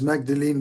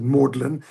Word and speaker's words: Magdalene: And I know you read it as Magdalene, but they of course are British, so they pronounce it Maudlin.